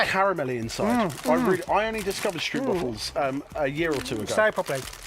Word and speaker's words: stroopwafels: These stroopwafels. I love stroopwafels. The most Dutch thing you could say ever. And these are like stretchy and jammy inside, aren't they? They're like caramelly inside. I only discovered stroopwafels a year or two ago.